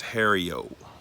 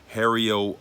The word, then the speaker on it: Harrio: Listen, guys, the way you pronounce my name is Harrio. Harrio over the top.